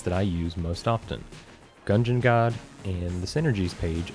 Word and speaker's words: Gungeon: Although that friend also pronounces it Enter the Gungeon instead of Gungeon, like dungeon.